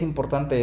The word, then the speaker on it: important: La tenemos aquí en important, por eso no es important, es important. Acá la tenemos, por eso no es this, sino this.